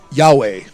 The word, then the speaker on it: Yahweh: So, how do they pronounce is it is it uh Yaye in the Bible? Yahweh.